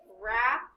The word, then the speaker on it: wrap: We have wrist, wrap, and wren. What is making the sound? W-R. W-R. Very good. W and R.